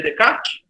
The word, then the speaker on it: Descartes: Se escreve Descartes, né? Mas se lê sem S, Descartes. Porque ele era francês, né?